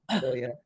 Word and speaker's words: Amealya: Is it Amelia or, because in Kenya we would pronounce every vowel and add a W and an R somewhere, just because. Yes, it's Amelia.